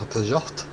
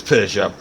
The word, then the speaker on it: Peugeot: Oh, you got a Peugeot. Is that how you pronounce it? It's Peugeot. A lot of people call it a Peugeot, but most people over here call it a Peugeot.